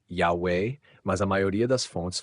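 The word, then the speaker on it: Yahweh: Essas transliterações usam ia a a ou uia a aua que indicaria uma pronúncia como ya forma que com o enfraquecimento do a em e poderia evoluído para Yahwe. Assim existem testemunhos que sugerem a pronúncia Yahweé, mas a maioria das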